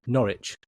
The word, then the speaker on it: Norwich: It's Norwich. Norwich. Norwich. Norwich. Norwich. Just ignore the W. Norwich.